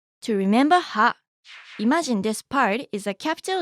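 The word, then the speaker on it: パ: Ha with the handakten is pronounced pa, ha, pa, ha, pa.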